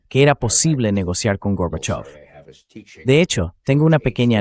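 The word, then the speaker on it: Горбачёв: Gorbachov fue el único que lo pronunció bien. Reagan lo intentó, pero seguía diciendo Gorbachev, Gorbachev, Gorbachev.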